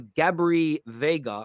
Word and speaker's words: Gabri Veiga: It's Mauricio Pochettino is pushing for Gabri Veiga, I think it's pronounced, who has a £34 million release clause.